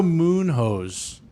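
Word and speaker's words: Munhoz: against uh he's fighting pedro moon hoes that's no way that's his name that's how it's spelled yeah it's munoz yeah this is international fight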